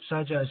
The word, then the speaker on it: Ajaz: Sorry, how do you say your name? Is it Ajaz? Yeah. Okay. No, sorry, I didn't know how to pronounce it. That was okay. So Ajaz, so learning outcome 2